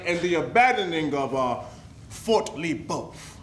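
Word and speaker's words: Le Boeuf: From our Royal Highness King George II, he demands a swift removal from Ohio Valley and the abandoning of Fort Lebeuf. It is pronounced Lebeuf. Lebeuf, Schmebeuf.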